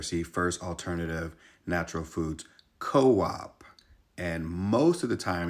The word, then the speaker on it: Coop: fun fact for you Coupe is not pronounced Coupe but Co-op as it is short for Cooperative well yes Co-op is